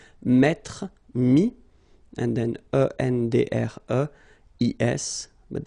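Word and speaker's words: mis: And then mettre, to put, so ETTRE will give you this IS, mi. Same thing here, final S is not pronounced.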